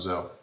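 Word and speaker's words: Gsell: Yes, G-S-E-L-L, but I think it's pronounced Zell.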